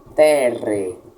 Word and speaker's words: terrae: As letras AE ou OE em latim se pronunciam como E. Então, terrae leremos como terre.